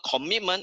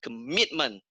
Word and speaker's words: commitment: And it's not commitment, it's commitment.